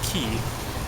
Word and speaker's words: Caye: on ambergris key and it turns out that key is English like the same as the Florida Keys they just spell it differently c-a-y-e so all right looking